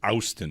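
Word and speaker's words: Auston: It's pronounced Austin. There's an O in there.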